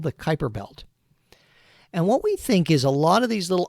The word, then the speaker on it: Kuiper belt: is sometimes called the Kuiper belt I know it's spelled Cooper Beltre that's something but it's called the Kuiper belt and what we think is a lot of